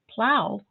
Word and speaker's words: plow: snow rhymes with no plow rhymes with cow so how do you